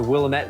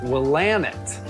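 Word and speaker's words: Willamette: going to start the conversation by getting some pronunciations correct I always thought it was Willet Valley uh that is not the way you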